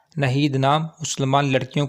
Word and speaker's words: नाहीद: नाम है नाहीद। नाहीद नाम के इंग्लिश में स्पेलिंग है NAHEED, नाहीद।